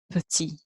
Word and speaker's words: petit: That's petit. Petit. So the E says E.